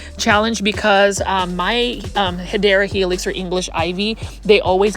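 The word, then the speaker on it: Hedera helix: Now this one right here is a Hedra Helix or the correct way to say it is Hideera Helix.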